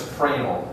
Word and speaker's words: Fresnel: It's actually pronounced Fresnel, F-R-E-N-S-E-L.